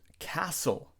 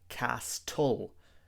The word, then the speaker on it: castle: p is silent and Castle lots of students say castle but the t is also silent in this word we have to say